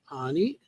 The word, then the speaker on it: Anie: Anie. Well, she the family was German. Um, so that's that's why the name looks like an or Annie and it's they it's anie is how they pronounced it.